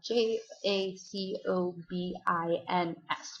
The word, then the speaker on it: Jacobin: by a group of radicals called joobin so it's spelled j a c o b i ns Jacobin um they're this radical group that's really